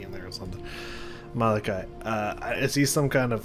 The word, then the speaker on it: Malachi: What is Malatai? I don't remember how to say his name. It's trying to come back to me. It's not there. Is his name here somewhere? Malachi.